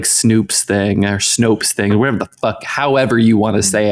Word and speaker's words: Snopes: U you you said that you've heard it pronounced snoops you heard someone pronounce Snopes incorrectly you didn't hear it because you don't